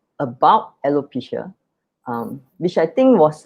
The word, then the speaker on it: alopecia: uh about your son but it's also about alopecia right did i pronounce it correctly yes correct yeah that's right